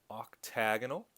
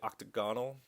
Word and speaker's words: octagonal: A lot of people say octagonal, and one way that I try and memorize that it's octagonal is you give yourself a little accent. Octagonal, hexagonal, pentagonal.